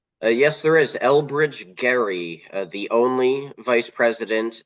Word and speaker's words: Gerry: as well and yes it's Gary with a hard G sound like gorilla or garage not giraffe or Jerry mandering so yes Jerry mandering is actually anounced incorrectly it should be technically Gary mandering that's right and that